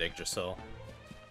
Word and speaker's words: Yggdrasil: I mean, I just have always said Yggdrasil. That's the correct one.